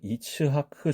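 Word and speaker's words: יצחק: 아브라함의 아들 이삭이라고 하는이 이름은 히브리어로는 이츠하크 정도로 우리말로 조금 더 정교하게 쓸 수가 있어요 여기에서도이 2에 해당하는 소리가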